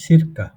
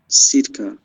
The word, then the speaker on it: circa: সিরকা, ওটার উচ্চারণ হচ্ছে সিরকা। Circa.